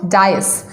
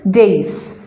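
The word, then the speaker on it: dais: stage and platform friends it is not joyous it is days many people call it Dyess but that correct pronunciation is days the next word that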